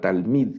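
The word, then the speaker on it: תלמיד: esa es una lamed este Che va no lo leemos entonces solo leemos tal mil tal mil se lee esta palabra tal mid que es estudiante tal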